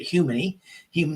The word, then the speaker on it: humany: So I pronounce it humany like human E, if you want.